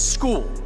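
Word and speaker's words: Scull: Will we ever see William Skull fight again? For clarity, William, it's school, right? We're going William School with the pronunciation.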